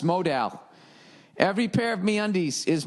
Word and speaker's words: modal: No, modal is pronounced modal.